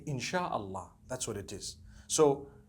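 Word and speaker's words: إن شاء الله: she means to create no one says inshi allah they say insha allah that's what it is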